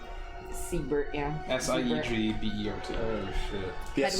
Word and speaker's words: Siegbert: I am Siegbert, we're spelled with an S. Pine Grip. Ziebert. Siebert, yeah.